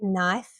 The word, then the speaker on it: knife: And K, knife, no, knee.